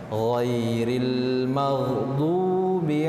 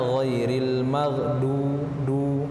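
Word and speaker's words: غير المغضوب: Ghairil maghdu menggunakan huruf dot di sini, bukan huruf dal. Jangan sampai membacanya ghairil maghdu tetapi du beda.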